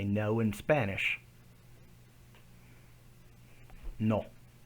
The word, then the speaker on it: no: No. It doesn't swing into that U sound like no. It's just no.